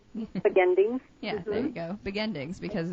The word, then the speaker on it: Begendings: Katherine where can people purchase beginings am I pronouncing it right I can't it's be beginings beginings beginings yeah there you go beginings because it's not the beginning it's not the